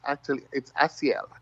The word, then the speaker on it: Asiel: You did pretty good. A lot of people get stumble on it. It's Asiel.